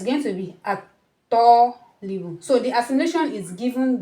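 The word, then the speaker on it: الطالب: wazal, this alif lam, the pronunciation of this alif lam is going to be assimilated into the to. You are not going to say al tolibu. No, it's going to be at tolibu.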